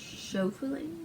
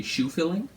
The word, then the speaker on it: Schoeffling: This other guy, I think it's pronounced Schofling. Schofling. I was gonna say shoe filling, because that's what it looks like.